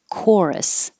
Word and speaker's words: chorus: same coral and that ch sounds like a k in chorus and choir because it's from um greek words we kept it that way woodbridge the wood